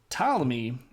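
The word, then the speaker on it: Ptolemy: they looked like this this guy is named tmy and it's spelled with a p and I'm tying it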